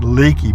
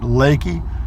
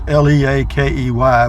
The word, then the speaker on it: Leakey: little community called Leakey but it looks like Leakey but they pronounce it Leakey it's le a ke y but it's pronounced Leakey and another town they're